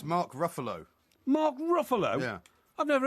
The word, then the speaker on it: Ruffalo: that question it's mark ruffalo mark ruffalo yeah i've never heard of mark ruffalo i've never heard of you either that rhymes with gruffalo as far as i'm